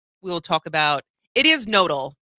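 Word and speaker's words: Knodl: talk about, it is nodal. It's not canodal, which is, I was really saying it's so much more fun to say Dan Canodal than nodal, but I was corrected. It is Dan Nodal.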